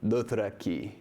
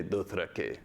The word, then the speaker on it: Dothraki: So if he were pronouncing Dothraki, he wouldn't say Dothrakee. He would say Dothrakay.